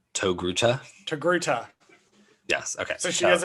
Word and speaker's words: Togruta: It's spelled T-O-Gruta. Togruta.